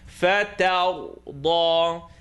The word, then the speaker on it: فَتَرْضَى: So the line on the top is going to be pronounced ta, and the ra is going to be pronounced heavy.